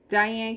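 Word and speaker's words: Diahann: i love that one how do you pronounce this die is it diane diane carol yes oh that's nice and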